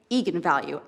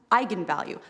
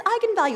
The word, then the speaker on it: eigenvalue: the director said yes that is how you pronounce it so i went out there and said that's right eagan value and then apparently the internet went nuts when it came out because apparently it's pronounced eigenvalue that's how you're supposed to say it and